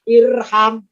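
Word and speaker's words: ارحم: Kalau huruf ketiganya fathah, alifnya tidak ikutan fathah, tapi tetap kasroh. Maka bacanya irham.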